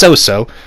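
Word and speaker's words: Sōsō: It's not Chocho or Ko, it's Soso.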